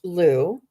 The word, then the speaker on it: Lugh: So it's Lugh, and it's pronounced Lou. And let me just go to the page. Okay. Um, okay, Lou, through persistence, action, and positive thinking, your dreams are manifesting into form, Miss Angelia.